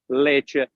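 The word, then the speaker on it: Lecce: Italy take a note Le it spells l e c c e and it sounds just like milk in Spanish leer exactly the same spells different but you pronounce the same it's beautiful Beau I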